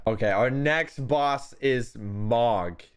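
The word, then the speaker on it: Mohg: Okay, our next boss is Mog. Is that how you pronounce it? M-O-H-G, Allie? Mog? Mog? Yeah, do you know that one? Yeah, that's Mog, all right.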